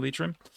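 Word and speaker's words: Leitrim: G uh Sligo Mayo lrim not LM lrim thank you for the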